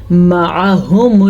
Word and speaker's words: مَعَهُمُ: مَعَهُمُ الْكِتَابَ، مَعَهُمُ الْكِتَابَ، عین کے تلفظ کا دھیان رکھنا ہے۔ عین اگر باریک پڑھیں یا عین کے صحیح مخرج سے نہ نکالیں تو وہ الف یا حمزہ بن جاتا ہے، یعنی کہ لکھا ہوا